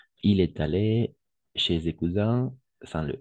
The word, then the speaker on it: cousin: Ici, on va prononcer cousin, pas cousine, cousin, d'accord?